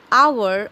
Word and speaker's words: hour: When you pronounce hour or honest, you don't say hour or honest. You say something that starts with vowel sound.